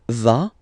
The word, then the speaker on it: va: Basically you pronounce it like for the tu because you don't pronounce the final S, okay, il va, elle va, okay, je vais, tu vas, il va, elle va.